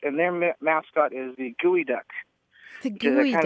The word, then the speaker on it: geoduck: Here in Olympia, we have the Evergreen State College, and their mascot is the gooey duck. The Which is gooey kind duck. of a giant clam. Yeah, that's Geoduck, right? Gooey duck.